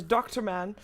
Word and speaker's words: Durman: We pronounce his name as Dr. Man, which is a very cool name, to be honest, so that's still open.